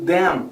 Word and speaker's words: them: A gente fala mais e fecha a boca. Them. Quando eu estou falando o them de então, a gente termina com N e aí eu termino mais sorrindo.